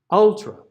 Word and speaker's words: ultra: ultra the next one ultra where's our stress first syllable ultra it's not ultra right ultra so the first one is going to be right ultra the last one's going to be a schwa okay up up same